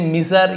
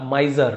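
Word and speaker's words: miser: माइजर यानी माई, इसे मिजर या माइसर नहीं पड़ेगा, ज, माइजर कंजूस, बहुत बड़ा कंजूस था।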